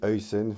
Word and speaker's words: Huijsen: face au Pays-Bas et on sait qu'il est d'origine néerlandaise he d'où la prononciation. C'est pour ça que j'essaie de le dire correctement. Dean Een voilà un super joueur